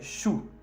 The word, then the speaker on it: choux: Al plural se dice les choux. Termina en O-U. Entonces a la fin, al plural, ponemos un X que no se pronuncia.